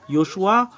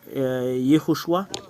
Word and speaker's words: Yehoshua: Yoshua ou Yehoshua. Le voilà. Ce sont les Hébreux qui l'ont écrit. Study, translation, pronunciation, etymology and grammar.